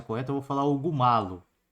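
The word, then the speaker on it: Mallo: eu vou falar Hugo Malo. É que é espanhol, né? É Hugo Maio.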